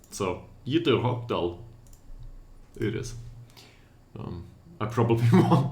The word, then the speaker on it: Ytterhogdal: Ytterhogdal.